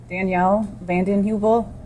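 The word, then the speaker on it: Danielle Vanden Heuvel: Uh, please tell us your name and spell it for the record. Danielle Vanden Hubil.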